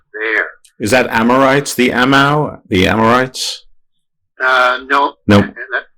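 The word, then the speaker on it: Aamu: Is that Amorites, the Amau, the Amorites? No. Nope. This is spelled A-A-M-U. Okay, just sounds similar to me.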